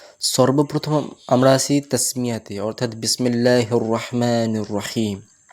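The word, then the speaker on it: بسم الله: আলিফ টান রাখবো শুধু আর কেউ কেউ বিসমিল্লাহকে বিকে বে উচ্চারণ করে বিসমিল্লাহ তো কাসরা অর্থাৎ জের আনতে হবে ক্লিয়ারলি বিসমিল্লাহির রাহমানির রাহিম তারপরের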